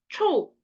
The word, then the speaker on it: 臭: 자, 얘네는 둘 다 발음이 초거든요. 앞에는 삼성이고 뒤에는 사성이에요. 초, 초 이렇게 읽는데 앞에 초는 못생기다 라는 뜻이고 뒤에 초는 취두부 할 때 취자죠.